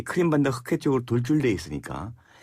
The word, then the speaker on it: 크림: 그것이 1853년부터 55년까지 벌어진 소위 그 크림 전쟁이라고 들어보셨죠? 네. 우리나라는 옛날에 크리미아 전쟁이라고 그랬는데 크리미아. 원래는 크림이 정확한 말이 크리미아는 영국식 발음이고. 네.